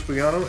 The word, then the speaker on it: Bugano: Here's your hosts, Bugano and Thomas Hogan. Hey, welcome to The Odd Show. We are back with another episode. The G is silent.